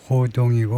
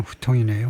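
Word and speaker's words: 胡同: 어 호동이고 우리식 발음으로는 중국 발음은 후통이네요.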